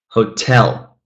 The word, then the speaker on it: hotel: Here, let's stress the second syllable. Hotel, bottle, hotel. And now you can say, I carried the bottle to the hotel.